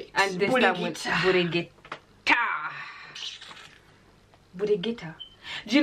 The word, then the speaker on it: Buligita: And this Buligita.